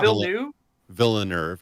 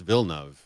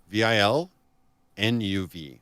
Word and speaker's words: Villeneuve: how you say it oh it's not phil new villanerv no it's vilnev oh i thought it was real new huh it's two two syllables vil nuv vilnev ah okay super simple actually